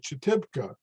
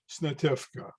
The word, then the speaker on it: Snitivka: Snitivka, if you don't recognize Cyrillic, this doesn't look like Snitivka, it looks like Chetibka. But if you know Cyrillic and how it's pronounced, it is indeed Snitivka.